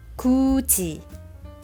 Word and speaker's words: 굳이: For the final consonant 디귿 and 티읕, influence the pronunciation of the initial consonant and they change into 지읒 and 치읒. 굳이, 굳이.